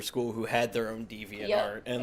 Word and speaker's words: Deviant: some of my peers diviant arts and being like wow diviant hell using deviant Arts hell what in the hell deviant like deviant yeah like Twisted that's awesome I wish